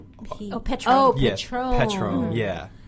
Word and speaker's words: Petron: But hers is spelled with the P-E-T. Petron.